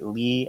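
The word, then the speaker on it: Leigh: pushed the other sisters to grow so it's pronounced Lee right l e i g Lee Le okay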